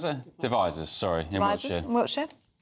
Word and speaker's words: Devizes: Chris in how do you pronounce it? Devizes, sorry, in Wiltshire.